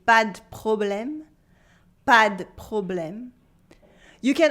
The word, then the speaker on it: pas de problème: But in everyday spoken French, the E of the would be removed, so we'd say pas de problème, pas de problème.